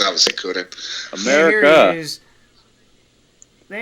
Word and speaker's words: Kunin: It's obviously Kunin.